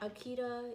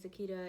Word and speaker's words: Akita: My grandmother is from Akita, Japan, not Akita, even though it's spelled Akita, even though the dog's name is Akita, it's really pronounced Akita.